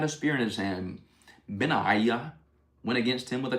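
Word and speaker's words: Benaiah: That's Ben and then three vowels and a silent H.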